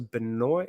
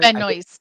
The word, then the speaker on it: Benoist: I believe it's Melissa Benoi. I always say her name wrong. Is it Benoy or Benoy? Benoy, I think. You do pronounce the S, right?